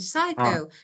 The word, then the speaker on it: psycho: you mean psycho psych No is silent P is silent psycho psychology psycho yes of course yeah psycho like uh they just believe what they saw.